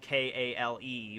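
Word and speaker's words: Keehl: mellow's real name uh his last name i don't think it's spelled k-a-l-e but it's like kale so there you go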